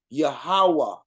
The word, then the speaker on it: Yahuwah: lot of names but one correct way to say it in that ancient form which is yahuwah yahawa is how to